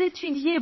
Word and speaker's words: étudie: Le E final est muet. On s'arrête au I de étudie, au OU de Jean.